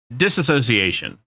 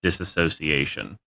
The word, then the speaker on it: dissociation: So, dissociation. It's often mispronounced as dissociation.